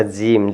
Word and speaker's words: gym: Consonants plus Y plus consonants, तो वाई का उच्चारण छोटी ई से किया जाता है, ठीक है ना।